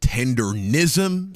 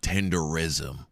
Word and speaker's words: Tendernism: I now know it's actually pronounced Tendernism, so yeah, just bear with me for a little while, but it's Tendernism, not Tenderism.